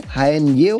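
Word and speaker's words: haenyeo: Las estamos viendo ahí de hecho en las pantallas de Santiago Televisión, las hao, si lo quieres googlear se escribe h a e n y e o jao, pero sí diceo, mujeres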